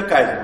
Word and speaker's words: kaizen: ठीक है, चलिए अब आते हैं अपन लीन सिस्टम का सेकेंड पार्ट है, केजन कॉस्टिंग या काइजन कॉस्टिंग, अपन केजन कॉस्टिंग काइजन कॉस्टिंग जो भी प्रोनाउंस करना है वो कर सकते हैं।